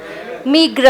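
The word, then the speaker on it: meagre: check करो pronunciation कैसा इस वर्ड का प्रोनाउंसिएशन बताइए मुझे मीग्र होता है आप चेक करो चलो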